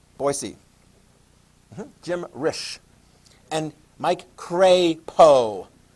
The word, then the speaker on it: Crapo: jim risch and mike craypo cray poe think of a why being after the a and that will help you from mispronouncing it crapo that is just